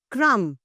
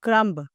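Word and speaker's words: crumb: नॉट थंब okay next क्रम नॉट क्रमब क्रम्स।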